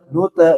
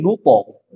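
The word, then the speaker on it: نطعم: Walam naku nute, nute ini salah. Jangan nute tapi nuto.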